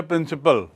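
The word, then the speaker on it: principle: आई पी एल ई उच्चारण वही है थोड़ा सा प्रिंसिपल और ये है प्रिंसिपल प्रिंसिपल पाल नहीं बोलते प्रिंसिपल और वो है प्रिंसिपल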